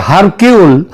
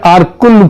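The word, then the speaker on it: Hercule: যদিও ওই উচ্চার উচ্চারণে এটা হয় হারকিউল কিন্তু একচুয়ালি উচ্চারণটা হচ্ছে আরকুল পোয়ারো তিনি যদি আজ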